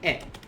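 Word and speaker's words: へ: one in purple also and this is particle a this will be pronounced as like just kind of like this a and similar to knee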